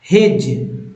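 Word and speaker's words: hedge: के अंतर्गत तो बैज हेज हेज में यहां पर डी साइलेंट है ठीक है डी साइलेंट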